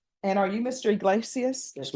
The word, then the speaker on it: Iglesias: Iglesias? Yes, ma'am. Am I pronouncing your last name correctly?